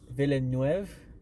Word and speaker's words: Villeneuve: It's Villeneuve.